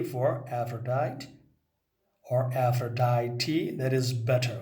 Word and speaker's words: Aphrodite: Aphrodite has good pronunciation is Aphrodite, Aphrodite and Nereis.